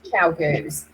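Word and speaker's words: ChiaoGoo: Chiu-goos is it spelled, but I believe you pronounce chow-goos.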